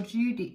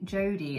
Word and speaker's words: Jodi: that maybe ruby or judy jody it's not judy it's jody jodie it better be jody because i i said her name wrong last time really anyone if